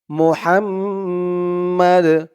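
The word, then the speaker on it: محمد: মিম জবর মা মোহাম্ম এখানে থামার কারণে উচ্চারণটা হবে মোহাম্মদ থামার কারণে এই দালের নিচে যে দুই জের তানবিন আছে এটা সাকিন হয়ে যাবে মোহাম্মদ আল্লাহুম্মা সাল্লি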